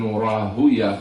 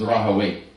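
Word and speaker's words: Rahawayh: Ishaq is Rahaway, even with the scholars of hadith.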